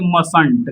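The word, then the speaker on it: mustn't: इसमें नॉट जोड़ा ऐसा तो यहां पे ये टी साइलेंट होगा अब इसको पढ़ेंगे मसंट क्या पढ़ेंगे मसंट लेकिन वहीं पर एम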